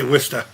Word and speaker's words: Worcester: And for anyone asking, it's a town that's spelled Warchester. We say Worester.